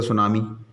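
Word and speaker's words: tsunami: लेकिन अगर शुरुआती इससे कर रहा है तो फिर टी की आवाज़ नहीं आ रही, टी साइलेंट कर, जैसे सुनामी। तो ये फ़र्क था इसमें सू में और तुसू में, ठीक है।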